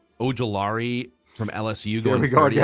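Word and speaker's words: Ojulari: BJ is pronounced Ojolari from LSU going 30th.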